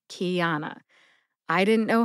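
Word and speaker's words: Qiana: For example, Kiana was one of my college roommates, and her name is spelled Q-I-A-N-A, Kiana.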